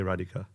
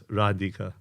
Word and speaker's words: Radhika: I say Radhika, even though I know it's Radhika with a A-D-H-I-K with an A on top as well.